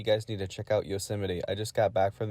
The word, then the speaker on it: Yosemite: wait is that how you say it yosemite yosemite yeah not the operating system because that's also